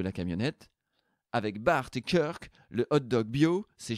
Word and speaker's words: Kirk: Prononcé Kirk, bien sûr, sinon ça ne fait pas américain et donc ça fait ridicule.